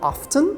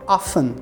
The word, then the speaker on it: often: often algumas pessoas falam often mas geralmente se fala often como se não pronunciasse o t often What do you